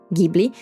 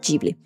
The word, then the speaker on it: Ghibli: It's a G sound, not J.